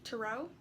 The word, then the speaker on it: tarot: sometimes it is pronounced tarot but it's spelled t-a-r-o-t with the t at the end being silent now tarot cards are